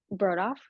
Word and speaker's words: Brodauf: Brodoff. Brodauf.